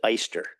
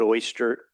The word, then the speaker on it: Oyster: It was a German name. They pronounced it Easter. We Everybody calls it Oyster, which is okay.